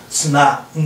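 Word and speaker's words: 綱誠: 綱成と書いてあるところありますけれど、安田先生曰く綱信だそうです。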